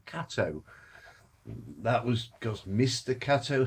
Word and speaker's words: Kato: It's not actually Kato. I've always pronounced it Kato. It's Kato.